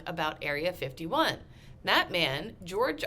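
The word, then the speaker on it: Joerg: to point out that his name is even though it is George it's spelled j-o-e-r-g you gotta have George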